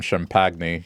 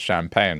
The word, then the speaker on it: champagne: you ask for some shampy, you're going to sound like an idiot. You you call it champagne, right?" Like because that's how it's pronounced. The word comes from French, so you pronounce it correctly.